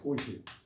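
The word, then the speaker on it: 布施: 보시. 이때는 보시 보자라고 해서 보시라고 읽는데요.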